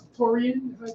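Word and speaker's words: Taurean: Taurian? Is that pronounced? Taurian, yep.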